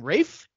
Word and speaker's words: Ralph: so I'm like wait is his first name Rafe spelled Ralph it's like two different people